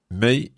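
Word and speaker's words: mig: is uh d-i-g exactly and may is m-i-g but we have to um pronounce it as is e-j in the end may so the plural one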